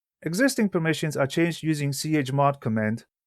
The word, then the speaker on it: chmod: Existing permissions are changed using chmod command, sometimes pronounced chmod, which stands for change file mode.